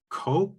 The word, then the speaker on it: Koepp: It's also written by David Koepp, I think is his last name.